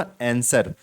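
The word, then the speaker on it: answer: है तो देखो ना मैंने बोला ना आंसर तो एन सर ऐसे लग रहा है तो डब्लू क्या लग रहा है डर लग रहा है साइलेंट है जो कि डब्लू साइलेंट-साइलेंट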